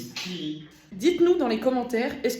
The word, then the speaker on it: Thierry: c'est que toute ma vie, j'ai cru que c'était un E muet. Toute ma vie entière. Thierry. Et c'est un E en plus parce que du coup, il y a 2 R derrière.